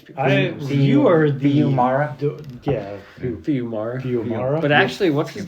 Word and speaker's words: Fiumara: Rick Remender, Max Fumara? Okay. I know everybody thinks I know how to pronounce these people. You are the... Fiumara? Fiumara.